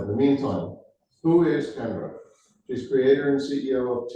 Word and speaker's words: Kendra: Yep, it's Kendra, just like Sandra with the K.